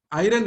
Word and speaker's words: iron: She used to tell iron age, R is silent, iron age.